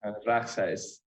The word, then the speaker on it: Regshuis: Is that how you pronounce that one, Nick? Regshuis, Afrikaans.